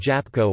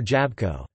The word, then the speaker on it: jabłko: There are certain clusters where a written consonant would not be pronounced. For example, the L in the words mogul, could, and jabalko, apple, might be omitted in ordinary speech, leading to the pronunciations muck and japko or jabko.